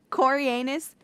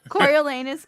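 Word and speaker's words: Coriolanus: hesitancy but just hear me out so Cory Cory anus goes through I'm just kid I know how to say his name corol lanus goes through like this thing where you know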